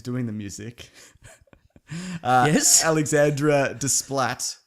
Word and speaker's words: Desplat: Alexandra Desplat. That's probably not how you say it. It's probably Desplo or something like that. No, it's Splatto. Splatto.